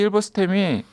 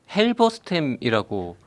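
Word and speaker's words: Halberstam: 수 있는데 이 데이비드 힐버스템이 그 잠깐만요. 그 우리 디페랑스님은 헬버스템이라고 썼는데 그 영어로도 HALBER이니까 헬버스템이 맞는 것 맞겠네요. 같은데 네. 자꾸 힐버라고 발음하니까 죄송합니다. 네.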